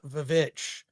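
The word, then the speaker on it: The VVitch: people call it the Vivitch. So the Vivitch? Why? Yeah, because it is spelled with two V's, which is the old way they used to do the letter W was with two V's.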